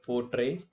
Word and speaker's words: portray: Similarly in word portray poor is unress syllable tray is stress syllable.